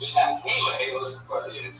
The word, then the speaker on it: Chaliss: How's it spelled? It's spelled CHALISS. So I said Chaylis. Yeah. And it is Chaylis.